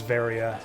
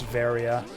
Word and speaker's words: Varia: the barrier suit because the word barrier is pronounced the same as Varia in Japanese it's battery out which is the same way you would pronounce Varia there's no distinction between